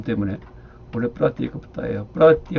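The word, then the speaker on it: प्रत्येकबुद्ध: 그러니까 Y자는 비음이고, 그러니까 발음 때문에 원래 프라티에까부타예요.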